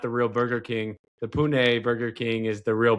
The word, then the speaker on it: Pune: I got a I got quite a few followers in Pune.